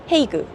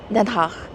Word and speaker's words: Den Haag: 건 그 우트렉, 로터담, 헤이그. 아, 근데 솔직히 이것도 잠깐만요. 발음을 다시 하자면 우트렉, 로터담, 덴하흐 이렇게 세 개에서 옵션이 세 개였어요.